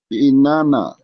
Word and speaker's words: Inanna: The Sumerians called her name Anana, pronounced Inanna.